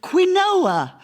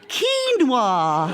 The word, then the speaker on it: quinoa: This is quinoa. Very good for you. It was only years later we realised the correct pronunciation for this is quinoa, Nicholas.